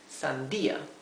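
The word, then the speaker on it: sandía: e that indicates that the accent is there on on the letter i Sandia remember that I in Spanish is e and the letter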